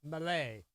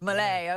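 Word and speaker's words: Milei: Javier I thought it was a Melanie, but it's a Malay, I think. Malay, okay.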